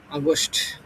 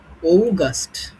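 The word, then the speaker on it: August: এখন হচ্ছে আমরা এটা অনেকে উচ্চারণ করে হচ্ছে আগস্ট। হ্যাঁ, আগস্ট মাস। কিন্তু এটা সঠিক উচ্চারণ হবে হচ্ছে ও। ও, তারপর হচ্ছে ও। ঠিক আছে? ঔগাস্ট। হ্যাঁ, ঔগাস্ট।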